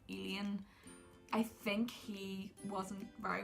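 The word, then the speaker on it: Elian: But the other character, I think you pronounce his name like Alien, I think he wasn't very well fleshed out.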